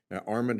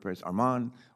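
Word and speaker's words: Armond: I've I've never heard Arman Armen how do you pronounce it Armen is correct thank you all right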